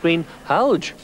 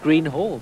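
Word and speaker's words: Greenhalgh: 3 videos so far, Howard Green Halge, as you've just corrected me. Absolutely, I said Green Hall, but well, it's that's how I pronounce it anyway.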